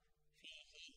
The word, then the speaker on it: فيه: with vertical kasra and it should be pronounced like there is a ya fihi and these are the